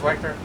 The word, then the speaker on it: Wechter: But David Wechter, is it pronounced Wechter? Okay, David Wechter, our district governor, will be joining us on October the 7th.